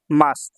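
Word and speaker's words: ます: যে সমস্ত শব্দগুলোর শেষে মাস আছে এই দেখেন মাস সু এই সু শেষে থাকলে সু উচ্চারণ মাস হয় মাস সুদ এইভাবে উচ্চারণ হয় না ঠিক আছে মাসু হয় না মাস হয় এক কথায় সহজভাবে আপনারা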